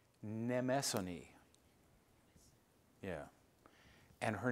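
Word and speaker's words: Mnemosyne: Her name is, let me say it right, Nemesone. Nemesone.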